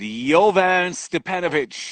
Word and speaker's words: Jovan Stepanović: friend uh nothing much how about you good jovan stepanovich he's joining us right now how is my that pronunciation one was great okay but i want